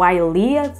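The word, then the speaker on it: Eylea: um dos seus produtos mais conhecidos é o aia assim deve-se pronunciar utilizado no tratamento para doenças oculares e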